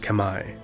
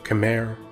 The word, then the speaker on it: Khmer: is now modern-day Cambodia the Kemmer correctly pronounced Kamai or Khmer or camera in English are an ancient people